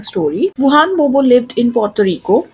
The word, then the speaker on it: Juan Bobo: करेंगे जिसका नाम है वुहान बोबोस स्पॉट। और यहाँ पे एक चीज ध्यान में रखेंगे आप कि यहाँ पे जो प्रोनाउंसिएशन है वो जुआन बोबो नहीं है, वो है वुहान बोबो।